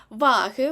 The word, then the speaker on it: ваги: речення найчастіше дають речення ваги в множині мають наголос на першому складі в нас є відомість